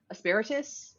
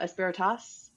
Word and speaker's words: asperitas: Um I've always said asperitas or asperatus. Uh cloud sounds like asparagus is the way that I like to think of it.